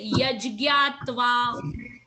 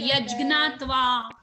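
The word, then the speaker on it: यज्ज्ञात्वा: So first one is only yaj, but second one is not j, because whenever j and n is together, it becomes either gya or gna. So you cannot say jyatva. Okay, like you have to say yajgyatva mritam ashnute, or you can say yajgnatva mritam ashnute. Depends whoever is pronouncing.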